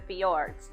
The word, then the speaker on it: fjord: Now, many cruise lines will go through the fjords, and that is this word here, so don't try to do what I did and pronounce the J.